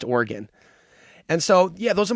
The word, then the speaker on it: Oregon: It's actually pronounced Oregon.